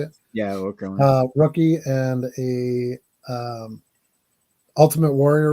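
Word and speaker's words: Okerlund: Yeah, Okra.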